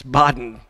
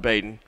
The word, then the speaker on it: Bodden: my own name folks it's Bodden sports not Baden so here's Nagel on